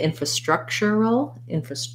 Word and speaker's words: infrastructural: And then if we're going all the way to infrastructural, go back to main stress on struck, structural.